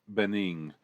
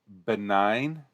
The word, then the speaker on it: benign: I knew better, even at that age, than to outwardly challenge Bening. Ben. Uh, ben. I'm sorry. I'm going to mispronounce this word a million times. Benign? Benning. Benign. Like the cancer. Oh, benign.